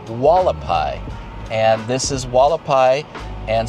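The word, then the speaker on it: Hualapai: This is Walapai. See how it's spelled? H U A L A P A I. Walapai.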